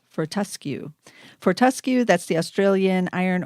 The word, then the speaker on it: Fortescue: is the ticker there for how do you pronounce it for tusky Fortescue Fortescue Fortescue that's the australian iron or metal guys